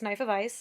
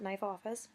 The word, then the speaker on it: Knife of Ice: One person asked me how to pronounce my username, but yes, it's Knife of Ice, not Knife Office.